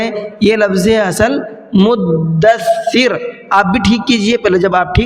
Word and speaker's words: مدثر: آپ کہیے کہ جی یہ لفظ غلط ہے جو آپ بول رہے ہیں، یہ لفظ ہے اصل مدثر.